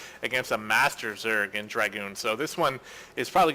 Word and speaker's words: DrAGoOn: next II I probably just next it is dragoon i butchered that so hard I'm so sorry man